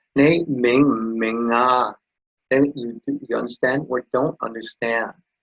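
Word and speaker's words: 明: And it's pronounced Ming, like this here, italicized once again, is Mandarin pronunciation.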